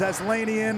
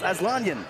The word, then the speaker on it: Aslanian: aanan and you know people have pronounced his name many different ways asan aslanian Ryan you found out it was make it two syllables aanan aanan asan and you